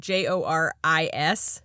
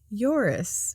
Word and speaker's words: Joris: and by the way his name is spelled j-o-r-i-s but it's not pronounced joris so he tells me